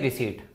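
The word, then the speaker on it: receipt: उसको हम बोलते हैं रिसीप्ट टेक्निकल लैंग्वेज में उसको क्या बोला जाता है टेक्निकल लैंग्वेज में उसको बोला जाता है रिसी आर ई सीई आई पी टी ठीक है पी यहां पर साइलेंट होता है अब आपके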